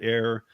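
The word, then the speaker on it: AIRE: Avalanche portion of the training is called air um it's spelled a i r e and you could only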